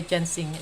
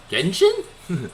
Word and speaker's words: Genshin: My sister said I should play Jensen Singh impact. Jensen Singh impact, right? That's how you say it, right? Genshin.